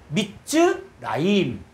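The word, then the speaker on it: מצרים: 이게 단 몸일 경우에는 이걸 무성 세어라 하거든요 어 무성 세화고 해서 이때는 무성은 뭐냐 소리 발음을 안 한다는 거예요 그래서 미즈라임 미즈라임 자 미즈 라임이 바로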